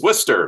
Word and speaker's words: Worcester: And everyone's like, it's Worcester. What's wrong with you? Okay, it's Worcester. yeah, Worcester or Worcester. Yeah, There's a lot of different people call it different things. sure. Yeah, it's more the British pronunciation.